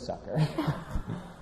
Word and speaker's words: Zucker: where he was like it's okay I would say Zucker because that's what everyone called me is that just like implode your brain of like man I've been saying my name wrong this whole time no because like in my head I feel like it is sucker but like my dad